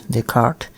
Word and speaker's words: Descartes: Yes, it is pronounced as Descartes, even though the spelling is weird because, you know, it's French.